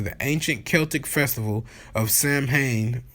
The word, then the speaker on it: Samhain: ancient Celtic festival of Samhain pronounced sowon sowon okay the Celts who